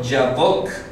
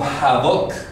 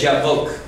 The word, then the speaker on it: Yabok: Jordán, que es el famoso río Yabok. Se escribe así en hebreo con esa ortografía. En español lo tendrán como Jabok, seguramente, porque así es castellano. Pero en hebreo es Yabok, Nahal Yabok.